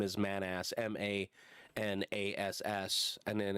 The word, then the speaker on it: Manas: it's it's the actual name is man ass m-a-n-a-s-s and then it's i think it's in turkey